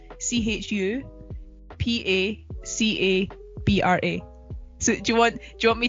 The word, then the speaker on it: chupacabra: For those who don't know how to pronounce it, it's Chupacabra. So if you want to break it down, it's Chupacabra.